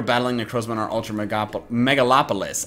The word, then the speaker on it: Megalopolis: Well, you were battling Necrozma in our Ultra Megalopolis. I keep wanting to say Megapolis, but that's cutting out a syllable.